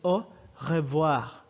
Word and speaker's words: au revoir: is using this one it's pronounced in formally it's pronounced as o revoir but most natives would just pronounce the first part of the hub so you